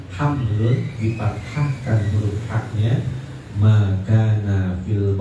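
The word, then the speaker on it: حَمْل: Fahamalal baqalu at-tabaqo, maka hamalat, jadi kalau kata-kata hamlun bi fathil ha, maka nabil batni. Kalau himlun bi kasril ha'i, maka na ala dhahri. Kata hamlun itu dipathahkan huruf haknya, hamlun dipathahkan huruf haknya, maka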